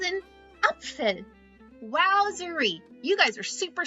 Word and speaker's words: Apfel: In German, apple is Apfel. Apfel.